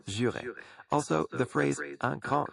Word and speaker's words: juré: A slight correction on the word jurer. It's pronounced jurer.